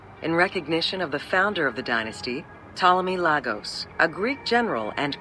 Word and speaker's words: Ptolemy: Upon assuming the title of pharaoh, he changed his name to Ptolemy I Soter, meaning savior. I thought you actually pronounced the P.